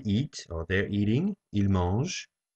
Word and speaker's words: mangent: Ils mangent. The N and the T are silent, so we just hear the E sound at the end.